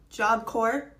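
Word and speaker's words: Job Corps: the video I posted yesterday because turns out job core the yes in the P are silent I had no idea and I've been mispronouncing that my entire life so thanks for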